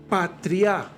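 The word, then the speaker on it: πατριά: como como familia eh es la palabra patria con acento en la a final así como patria de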